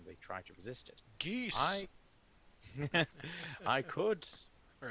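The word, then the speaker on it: geas: I don't like I know the correct pronunciation is gas, but I don't like that because it sounds like you're saying just like gas. You know, Just which- gas. sounds like you're farting on somebody.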